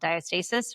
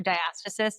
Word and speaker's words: diastasis: So, I had my twins and I developed what's called diastasis which is or diiaasis. They they pronounce it both ways, but it's a split